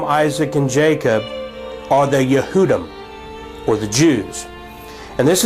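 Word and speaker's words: יהודים: for Jew in English is pronounced yehudi and the word Jews is yehudim and so the case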